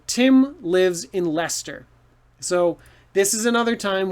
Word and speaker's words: Leicester: is that lycester no lester so worcester and lester the two words look crazy but they actually rhyme okay and uh so you could say tim lives in leicester so this is another